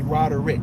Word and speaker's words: Roderick: about roger of course my mother likes to call me rodder rick and that is that is the correct pronunciation of my name roderick so anyway